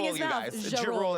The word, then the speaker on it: Ja Rule: Ja Rule is how you say it.